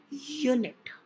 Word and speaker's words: unit: alphabet are consonants so although it starts with a vowel but it is pronounced as you knit so the pronunciation is